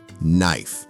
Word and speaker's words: knife: Knife. Why is K silent? No idea. English just said, shh.